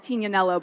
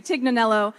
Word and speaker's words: Tignanello: a type of wine called tina nello but in the states they sort of butcher the name and say tignanello and it was my